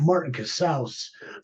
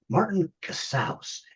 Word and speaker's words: Martin Casaus: At Martin Casaus, rhymes with house. It's house. Martin Casaus.